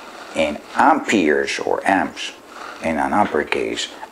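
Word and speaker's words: ampère: "Je sais, mes amis de la France, et du Quebec, que c'est un nom que nous pronouncons Ampere" but here, in America, we call that ampere.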